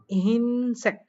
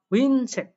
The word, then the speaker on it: 흰색: পরেরটা বলছে, এখানে দেখেন হিনসেক, এটা উচ্চারণ করবে, বাট হওয়ার কথা ছিল কি হুইনসেক, এটা হওয়ার কথা ছিল, বাট এটা হবে না।